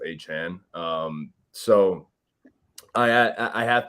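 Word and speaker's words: Achane: he was like by the way it's like pronounced aan um so I I have to say like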